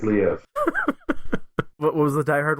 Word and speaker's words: Liev: I think it went Lou Schreiber. Is that what you said? Lou Schreiber? No. Liev. Yeah, Liev Schreiber.